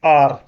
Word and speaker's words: are: इसको हम पढ़ते हैं आर।